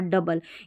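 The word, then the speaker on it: double: मतलब कुछ-कुछ स्पेलिंग्स जैसे यंग, कंट्री, ट्रबल और डबल।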